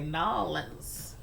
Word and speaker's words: New Orleans: me okay I'll pronounce it like that I'll pronounce it like that but yeah I know a lot of southern people they say nollans but yeah I'm up here I'm just putting